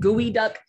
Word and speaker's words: geoduck: It's called gooey duck, but it's spelled Geoduck.